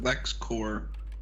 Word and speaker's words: LexCorp: few episodes back that Lionel pronounces that Lex core with a silent P while everyone says it like the comic credit is always pronounced it